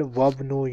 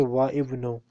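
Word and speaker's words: وابن: I don't say Wa Ibnu because on the Alif you see a very small sign of Hamzatul Wasl. So whenever you see this sign, then we don't pronounce Alif if we have alphabet before it.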